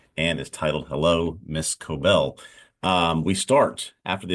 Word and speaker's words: Cobel: Miss coobo Miss coobel coobel is how you say coel not coobo um I guess as